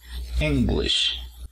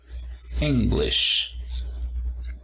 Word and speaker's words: English: Y para decir inglés, que sería la nacionalidad, también encontramos el apóstrofo al inicio, ¿no? En la primera sílaba. English. Ese sonido de sh al final tiene que escucharse para pronunciar esta palabra English.